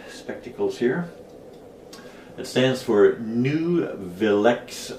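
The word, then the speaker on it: Nuvilex: here it stands for new villex i guess is the correct way n u v i l e x i guess that's correct way to pronounce it and usually i recommend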